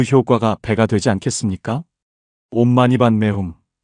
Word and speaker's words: 옴마니반메훔: 온마니반 매훔. 이것은 산스크리트어로 온마니 파드메훔이라고 발음됩니다.